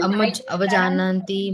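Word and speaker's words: avajānanti: Avajananti mama I was mudha. thinking I pronounced wrong. Avajanati Mamuda. Mamuda. Avajananti mama mudha. Avajanati Mama Muda. Muda. Okay, it is not avajanati, jananti, okay? Avajananti mama Avajananti Avajananti mudha.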